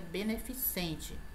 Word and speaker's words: beneficente: Beneficiente, como nós escutamos, né, esta palavra pronunciada de forma incorreta. Chá beneficiente, quando a pronúncia é beneficente.